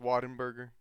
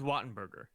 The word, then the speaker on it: Wattenberger: It's pronounced exactly how it's So spelled. it's Wattenberger.